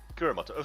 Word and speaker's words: Kuramoto: Oh, is it Kurimoto or Kiri? Kuramoto. However I spelled it is the way it's spelled. Okay. Kurimoto. Yeah, I messed up the Kura, but I had the rest.